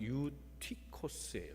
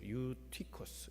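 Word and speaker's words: Εὔτυχος: 이 유두고라는 이름은 헬라 말로 발음대로 하면 유티코스예요. 유티코스. 이 유두고 우리 말로 그냥 유두고라고 말하는 겁니다. 유는 좋다는 거예요. 유앙겔리온. 그게 복음이에요. 유는 다 좋다는 뜻입니다. 그러니까 유티커스, 티커스는 뭐냐면 운이에요.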